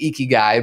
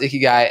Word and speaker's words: ikigai: philosophy called ikigai and it sounds like icky guy but it's it's it's pronounced ikigai and it's in beautiful